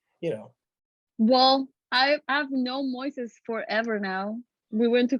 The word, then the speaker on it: Moises: Since they think that it's like Moses, but it's like the Spanish version of Moses. Just add So, an E in the middle. yeah, it's like a Moises, and then the people is like, oh yeah, and they just start saying a lot of pronunciation, but it's like actually Moises.